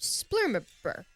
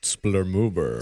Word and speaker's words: splurmoober: Stuffed splurmerber. I believe it's pronounced splurmoober. Splurmoober.